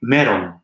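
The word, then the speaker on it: メロン: japanese you would say meron so the l sounds turns into an r sound it's like a half r l and it's pronounced middle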